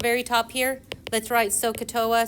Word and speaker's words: SOHCAHTOA: So, let's see, I'm gonna write, if y'all can please, at the very top here, let's write SOHCAHTOA, so you're gonna put SO, S-O-H, Ka, like the bird, right?